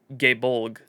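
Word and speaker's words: Gáe Bolg: I I mean I I have always heard the Japanese pronunciation gay bolg what did they say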